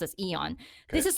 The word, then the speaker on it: AEON: Japan is Yan I actually thought it was a on but it's you know it's pronounced as Aeon this is like the in the Philippines we